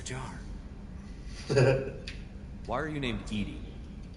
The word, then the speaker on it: EDI: why are you named edie edie is the phonetic pronunciation of that is an acronym